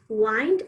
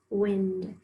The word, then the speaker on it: wind: have underlined right now this word has two pronunciations wind up this plane and watch it fly in the wind so wind is like a mind and fine and wind is spelled exactly the same but we use the